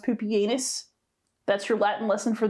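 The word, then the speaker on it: Pupienus: have poopianus and balbinus yes it is pronounced poopyanus that's your latin lesson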